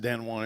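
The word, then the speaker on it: Danone: your billfold okay now here's an example of dan and that's actually pronounced dan juan it's a french company so they this is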